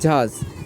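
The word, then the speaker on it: judge: ও এল ই ডি জি ই knowledge এরপরে জাজ জে ইউ ডি জি ই জে ইউ ডি জি ই এখানেও ডিড উচ্চারণ হয়নি কেননা এখানেও উচ্চারণ হচ্ছে জজ জে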